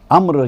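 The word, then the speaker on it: عمرو: ہے، وہ عمر ہے، لیکن عین میم را کے ساتھ اگر واو بھی لکھا جائے تو وہ امر ہے، عمر نہیں ہے۔ تو عمر میں اور امر میں اسپیلنگ میں فرق یہ ہے کہ عمر میں واو نہیں آتا اور امر میں واو بھی آتا ہے لیکن پڑھا نہیں جاتا۔ وہ واو فیصلہ کرتا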